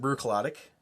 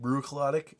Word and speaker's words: Bruichladdich: it's scottish not english quit trying to pronounce it like it's english oh well that's the only one i know but yeah a lot of people pronounce it brew colotic um and if you were to say like brewer claudic you would probably be understood but in scotland the